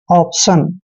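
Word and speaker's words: option: पढ़ना है अब देखि टी आई ओ एन को शन पढ़ते हैं ऑप्शन ऑप्शन ऑप्शन क्या होता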